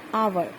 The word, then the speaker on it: hour: An hour. Here, H is mute. H is completely mute. That's why we will pronunciate an hour.